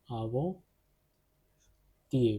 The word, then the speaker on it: avant-hier: Avant-hier, because of the liaison rule, this T will get connected with this I since H is silent. Avant-hier.